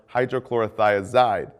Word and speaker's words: hydrochlorothiazide: and potassium sparing diuretics potassium wasting ends in I'd like furosemide or hydrochlorothiazide both rhyme with dried but again be careful